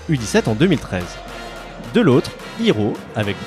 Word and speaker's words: Heero: producteur sous le nom que je te laisse prononcer. Hiro.